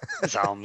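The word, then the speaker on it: ZA/UM: Is that how you pronounce it, Zaum? Yeah, that's about as close as I can usually pronounce it. Zaum, Zaum.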